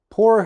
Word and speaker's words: pour: So in the American pronunciation, this is pour. Pour, door, floor.